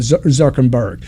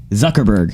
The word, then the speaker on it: Zuckerberg: more of a phenomenon you become think about zuckenberg think about jesus think about alexander the great think about all the young people am i saying it wrong zuckerberg whatever okay okay you know think about think